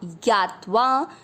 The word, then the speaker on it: ज्ञात्वा: पहला चरण य के साथ आधा ज यज, ज्ञा आधा त के साथ वा ज्ञात्वा, न पूरा है न में